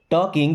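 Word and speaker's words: talking: You means आप टॉकिंग। देखिए अब इस वर्ड में दोस्तों एल साइलेंट है।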